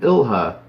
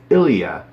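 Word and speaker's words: Ilja: I've been calling him Ilha. It is not. It is Ilya. The J is pronounced like an I.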